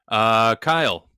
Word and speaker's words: Kyle: Kyle, rhymes with smile.